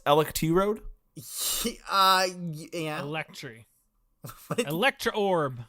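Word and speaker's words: Electrode: and you 100% should um I believe it's pronounced elect Road uh yeah electry Electra orb okay no we're learning about electrod um the evolved form of oh well Corbin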